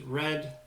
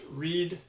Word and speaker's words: red: So here, when you get to the word red, make sure we're pronouncing that as red, not read, just because the red is the more irregular version of that word, so that's what gets emphasized in these practices.